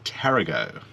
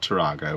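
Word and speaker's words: Tarago: loaded dog hotel in tarrago not toronto we've been corrected several times yeah the locals are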